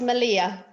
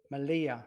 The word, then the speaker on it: Melilla: Well, I believe it's it's it's pronounced Malia. Malia. All two L's are pronounced as a Y. So, Malia, right?